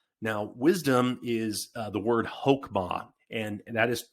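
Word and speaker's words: חכמה: Now, wisdom is the word hokmah, and that is spelled, I got to write it down right here, KhokHman, hokmah.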